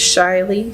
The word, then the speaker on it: Shily: My name on there is Shily. Just the way it sounds is the way it's spelled.